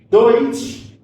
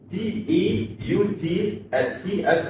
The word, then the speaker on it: Deutsch: Deutsch is d e u t s c h h by German by English pronunciation of that.